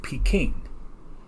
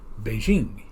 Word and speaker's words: Beijing: For example, before this switch over, the capital of China was called Peking.